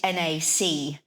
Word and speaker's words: Nacre: So it's NACRE, or in French it's pronounced Lanac, and in English it's Nacre.